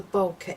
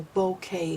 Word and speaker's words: bokeh: And this is called the bokeh effect or the bouquet effect depending on how you want to pronounce it.